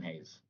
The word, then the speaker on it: Hayes: His name rhymes with Bays, Lays, Faze, Austin Hayes.